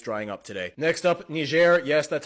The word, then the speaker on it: Niger: Next up, Nishair. Yes, that's how you pronounce it.